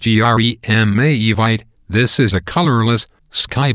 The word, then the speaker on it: Jeremejevite: Pronounced Jeremejevite, this is a colorless, sky blue or pale yellow stone, the highest quality of which comes from Namibia.